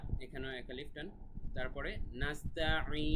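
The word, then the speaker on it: نَسْتَعِينُ: তারপরে নাস্তাঈন, নাস্তাঈন, আইন গলার ভেতর থেকে, তারপরে লাস্টে 3 আলিফ টান।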